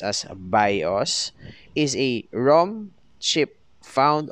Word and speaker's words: BIOS: for basic input output system the bios or pronounced as bios is a rom chip found on motherboards that